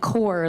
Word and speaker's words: Kaur: Mun rhymes with sun, Preet with the th at the end, and Kaur like apple core, and that's as close